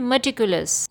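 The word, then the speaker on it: meticulous: इसका सही प्रोनाउंसिएशन है मटिकुलस।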